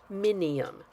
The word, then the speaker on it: minium: It's amazing how you want to pronounce that when it's actually pronounced minium, also known as red lead.